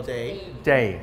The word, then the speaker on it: DAE: This is the DA, how do you say, DAE or D? Oh, day. Just DAE.